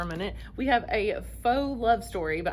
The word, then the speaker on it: faux: We have a faux love story, but I think it's pronounced pho, but I know in this case it's supposed to be faux, like fake, so I'm gonna call it a faux love story by Lone Lee.